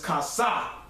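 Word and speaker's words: כָּסָה: The phonetic pronunciation is kasa, meaning to cover, to conceal, to hide, man.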